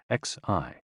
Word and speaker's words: xi: with the spleen and XI pronounced like she which connects the whole